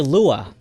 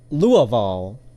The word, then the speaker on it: Louisville: you pronounce this um Louisville I guess Louisville yeah Louisville okay locals don't call it Louis or even Louie it's actually Lua louville Louisville and it's